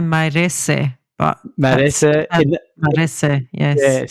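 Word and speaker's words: Mairesse: race is best remembered Maurice is that how you pronounce it Maurice I would say mares but mar mar yes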